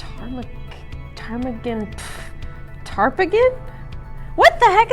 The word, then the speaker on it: Ptarmigan: sweat I swear t-a-r the p is silent p is silent garlic Ptarmigan tarp again what the